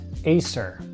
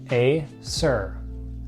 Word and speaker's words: Acer: starting with an a this one is pronounced Acer a sir Acer Acer back to another